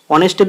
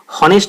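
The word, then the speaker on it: honest: কিন্তু বন্ধু এখানে হনেস্ট আছে, তো আমরা তো হনেস্ট উচ্চারণ করছি না, আমরা অনেস্ট উচ্চারণ করছি, অ উচ্চারণ করছি।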